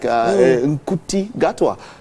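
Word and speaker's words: Ncuti Gatwa: So there's one that people probably like Nkuti Gatwa. Yeah, that's how it's pronounced. Gatoa?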